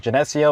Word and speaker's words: Geneseo: And we are back at Geneseo, Illinois, or they actually pronounce it Geneseo, but I call it Geneseo. It's like the Genesis, but with an EO.